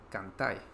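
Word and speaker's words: cantái: Eh, Cantar sería cantai. Comer sería comí. recordar que la S no se pronuncia en español de Chile y vivir se pronuncia viví.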